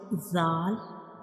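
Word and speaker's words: ذال: And when we pronounce zal, we will touch the tip of tongue to the edges of upper to front teeth.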